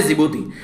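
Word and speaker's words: Djibouti: जो horn of Africa है उसका एक्रोनिम इनके द्वारा बनाया गया SEED, सीड मतलब सोमालिया, एरिट्रिया, इथियोपिया और जिबूती, डी साइलेंट रहता है जिबूती।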